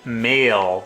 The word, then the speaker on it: M(h)aol: is uh debut album the band is called it's called mail but it's spelled I don't know if you can be able to see it it's spelled like m and then an H in parentheses AOL nabum is called attachment